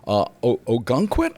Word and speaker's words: Ogunquit: Ogunquit? I hope I'm Yes. pronouncing, Ogunquit.